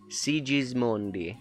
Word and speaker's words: Sigismondi: It's with the Italian pronunciation is Sigismondi. Sigismondi.